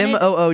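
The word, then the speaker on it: Moog: but anyway I want m o o g is pronounced moo I almost got a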